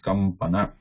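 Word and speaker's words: कम्पन: So here we cannot actually pronounce it with anuswara. It's difficult, or maybe not possible, it's highly difficult. So it is written like this or pronounced like this, kampana.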